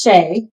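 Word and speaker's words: Shai: It might be Shy. It's spelled S H A I. But I think it's Shay.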